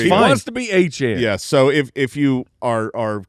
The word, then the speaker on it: Etienne: wants to be Etienne. Yeah, so if you are coming back to fantasy football and you're like, why are you saying his name wrong? That's the French Creole pronunciation that he prefers.